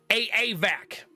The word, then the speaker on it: Avak: It's pronounced A-A-Vac. That's right. You got to say both A's. Pronounce all of the A's.